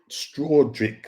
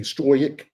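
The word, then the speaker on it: Struijk: Um, I think it was Straick. Straic, that's how you pronounce his name. S t R U J I J K. Stroick.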